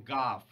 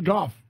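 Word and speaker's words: Gough: was friends with Michael Goff. Yeah. Which I believe is how you pronounce his name. We always Yeah. called him Gog as kids.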